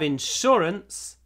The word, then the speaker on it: insurance: Insurance you must have insurance to drive a car Insurance the stress is the second syllable Insurance sh sh hold the sh Insurance in Insurance to